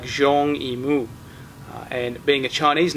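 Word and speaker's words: Zhang Yimou: let's have a look at the film's director Zang yal there's another one of those words or names in this case you didn't learn how to pronounce properly it's pronounced more like Jeong IMU and being a Chinese name Jeong is his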